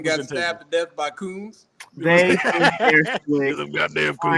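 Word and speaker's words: Khunds: Coons.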